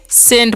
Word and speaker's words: scent: SCENT है, तो इसे हम क्या पढ़ेंगे जी, सेंट पढ़ेंगे। क्या पढ़ेंगे, सेंट। यहाँ पर C साइलेंट है।